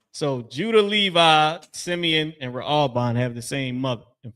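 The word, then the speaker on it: ראובן: Raalban is how you pronounce that in Hebrew. Raalban.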